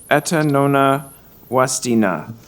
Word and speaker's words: Etanona Wastina: Request to rename Woodsy Park to Etanona Wastina Park. Thank you so much, Councillor. How close was I? You were exactly bang on. The last N is silent. It's Etanona-Wastina.